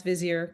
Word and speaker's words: Vizier: um who is the former CMO of both Vizier and Pendo. Uh Jake, did I pronounce Vizier correctly?